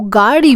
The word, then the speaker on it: गाड़ी: The ra sound is a bit difficult, but it's not a ra, it's ra.